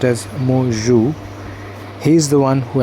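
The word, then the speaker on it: Mạc Cửu: There was a Chinese refugee, his name is pronounced as Mo Zhu.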